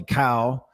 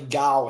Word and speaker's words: Kao: It's pronounced with a G sound, so like G-A. You give like, like cow. Dude, I have a good friend of mine with the G. It is Gao.